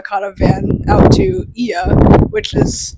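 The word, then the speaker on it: Oia: a van out to IIA which is spelled o i a but the O is silent yes yes um it's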